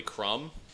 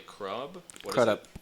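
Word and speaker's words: Crudup: you guys remember Billy CR up yeah Billy crumb if it is crumb he doesn't have an m in his name or a b Billy crub C up cup I said it right correct yeah how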